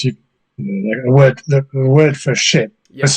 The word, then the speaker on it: scip: The word, the word for ship Yeah. was spelled different. It's spelled SCIP, Right. but it was pronounced ship, Yeah.